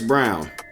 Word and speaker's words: Braun: making history Chris Brown white Chris Brown I know it looks like it's spelled Braun but Chris Brown came